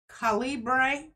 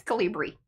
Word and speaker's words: Calibri: is changing from Calibre. That's not how you spell it, but I love that you gave it a whirl. I did. It's Calibri. Calibre. Yeah, so it's that, not with the, it's BRI at the end.